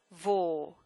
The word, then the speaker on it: vos: And notice how I pronounce this last syllable here. Vos, vos. Think of the word vogue when you're doing that.